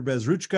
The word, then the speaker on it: Bezruchka: lessons for the world Professor bazruchka I hope I'm pronouncing it right welcome to democracy nerd thank you very much uh uh Jefferson for having me yes you pronounced my name correctly thank you before we